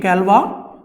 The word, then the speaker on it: Galois: So the course is called Galois theory. That is how you pronounce this name, Galois. It is named after a French mathematician. His name is Évariste Galois and he lived in the 19th century and